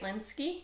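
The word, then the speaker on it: Lynskey: last name from heavenly creatures and she's great linsky linsky that's right she's awesome she's fantastic she's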